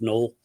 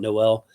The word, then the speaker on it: Null: And by the way, his last name is pronounced null. Um, it's not Noel, despite the way it's spelled, um, uh, just for like draft your draft coverage and stuff like that.